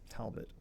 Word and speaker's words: Talbot: familiar with these Madame how would you pronounce this Talbot or towel tell them Talbot okay anyway Talbot and